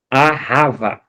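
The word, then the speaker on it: אהבה: A, o H, eh, o A e o B, né, que tem a pronúncia de V, a né, que significa amar.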